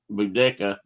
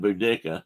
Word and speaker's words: Boudica: Either they say to either put this emphasis on the first part or the back part. Either one is correct. So it's like Boudica and I think they said Boudica. These are English. About what they know, or Boudica. So you could say it whichever way.